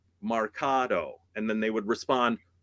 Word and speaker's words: marcato: Okay you're going to do this Marcato in Marketo no Marcato that it's pronounced Mercado March like cool we did it Marketo again